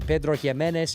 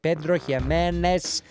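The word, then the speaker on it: Pedro Ximénez: It's finished in Pedro Himenez cherry casks. And yes, I said it right. Pedro Jimenez.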